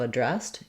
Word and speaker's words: addressed: E to the of addressed, be addressed. You can think about it like their needs can be addressed, because my main stress in dressed is here on that second syllable.